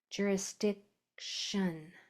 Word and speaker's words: jurisdiction: Um, it's because it's kind of a stop sound before that shun. It's not a hard C like cat or cow. It's more of a stop jurisdiction. You just stop. You don't really spit out that C sound.